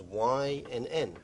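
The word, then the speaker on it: Wynn: y n n and it's pronounced like the letters Y and N let me ask you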